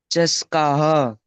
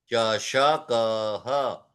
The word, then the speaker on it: चषकः: चस्का, चषकः। श पूरा आना चाहिए। चषकः।